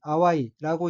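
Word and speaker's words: 淡い: 다음 어휘는 한자가 상경이고 각각 오히려 상칠경자이고 일본어로는 나오사라고 읽으며 나오사라는 부사로서 그 위에 더욱 더한층이란 뜻입니다. 다음 오인은 한자가 맑을 담자이고 일본어로는 아와이라고 읽으며 아와이는 맛 빛깔이 지나지 않다 형태 빛이 희미하다 어음풀해하다 등의 뜻인 형용사입니다.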